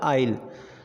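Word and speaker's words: aisle: एस आता है, यानी आई और एल के बीच में अगर एस आता है तो हमारा एस वर्ड यहाँ पे साइलेंट हो जाता है और बाकी का प्रोनाउंसिएशन हम करते हैं, यानी अकॉर्डिंग टू द रूल हमारा यहाँ पे जो प्रोनाउंसिएशन होगा वो होगा आइल।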